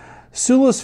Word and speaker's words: Sula: So the founder pronounces it Sula.